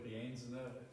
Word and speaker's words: Rienzner: Il mio nome chiaramente è difficilmente pronunciabile, sono quello forse anche più vicino di tutti perché sono venuto da Bolzano e non so, forse è per qualcuno di voi Rienzner, se qualcuno conosce il fiume Rienza, quello delle Tracine dell'Avaredo,